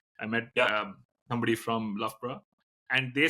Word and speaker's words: Loughborough: take you before you realized that it's pronounced Loughborough? Yeah, when even now, if somebody reads Loughborough back in India, they say Loughborough or Yeah, whatever. I would have said Loughborough or something.